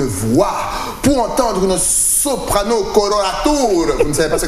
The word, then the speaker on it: coloratura: Qu'est-ce qu'une soprano coloratura? Je prononce bien?